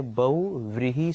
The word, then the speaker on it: बहुव्रीहि: June right है ना इसका जो प्रोनोंसीएशन है इसका जो उच्चारण है वह है बहुव्रीहि समास क्या हो जाएगा बहुव्रीहि